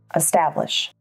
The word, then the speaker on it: establish: Establish. Establish has three syllables, establish, with the emphasis on the second syllable.